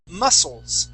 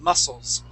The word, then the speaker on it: muscles: um is is pronounced muscles so that c is actually silent the word is muscle muscles try that muscles good